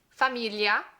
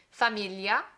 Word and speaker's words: famiglia: Famiglia. This one's a little tricky because we have that li in there, that G-L-I, and we don't necessarily have that sound in English, so it's a little tricky to pronounce.